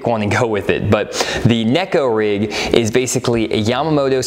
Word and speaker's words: neko: it the nico rig some people call it a necco rig it originally in japan and the word neko means cat so it's like the cat rig and that's how you're supposed to pronounce it so that's all